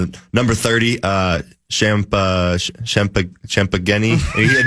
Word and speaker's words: Champagnie: Well, there's a a guy who should be called Champagne, but it's not. Champagnie.